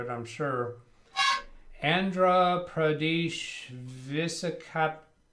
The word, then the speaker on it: Visakhapatnam: And I'm going to try to pronounce this. I'm going to butcher it, I'm sure. Andhra Pradesh Visakhapatnam. Visakhapatnam.